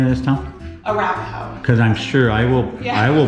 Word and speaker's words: Arapahoe: Arapahoe.